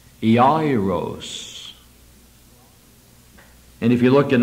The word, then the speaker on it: Jairus: The Greek would have it similar to that, ending with an O-S instead of a U-S, and would be pronounced Jairus.